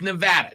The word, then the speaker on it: Nevada: ways back toback but argues how tournament is pronounced all right it's Nevada just so we're clear Nevada it's Nevada and